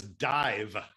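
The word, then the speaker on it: Dàimh: shirt say it says dive uh the mh in uh in gaelic is pronounced like a v uh in uh in english and it's the name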